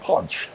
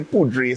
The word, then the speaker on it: Poudre: Co elves right yes pudre is French for powder but it's actually pronounced pod so like ju right P you know but we Caribbean so we say pudre so it's easy for